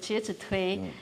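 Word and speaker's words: 介子推: Conta a história do Jie Zhi Tui, é como a gente pronuncia isso, Jie Zhi Tui, e o Festival da Pureza e da Luminosidade.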